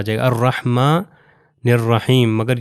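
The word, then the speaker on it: الرحمن: ये चीज है कि अगर मैं इसको पिछली आयत से जॉइन करूं अल्हम्दुलिल्लाह रब्बुल आलमीन अर रहमानहीम तो उस सूरत में यह वाला अलिफ जो है नहीं पढ़ा जाएगा। आप यह देख सकते हैं यह अर रहमान अगर मैं अर रहमान से स्टार्ट करूं तो अलिफ पढ़ा जाएगा अर्रहमानहीम।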